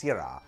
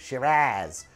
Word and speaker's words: Syrah: And I want to pronounce that as Syrah, but actually the pronunciation guide says it's pronounced Syrah. I also seem to recall Hannibal Lecter in one of those movies complaining about Australians pronouncing it Shiraz.